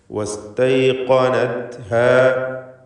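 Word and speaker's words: وَاسْتَيْقَنَتْهَا: വജഹദൂ ബിഹാ വസ്തൈഖനത്ഹാ, ഇവിടെ ഖാഫ് തഫ്ഖീം ചെയ്യേണ്ട അക്ഷരമാണ്. മറ്റക്ഷരങ്ങളൊക്കെ ശ്രദ്ധിച്ചുച്ചരിക്കുക. വസ്തൈഖനത്ഹാ, ഖാഫിന് മാത്രമേ തഫ്ഖീമുള്ളൂ, മറ്റക്ഷരങ്ങൾക്കൊന്നും തഫ്ഖീമില്ല, തർക്കീഖാണ് എല്ലാറ്റിനും എന്നതും ശ്രദ്ധിക്കുക.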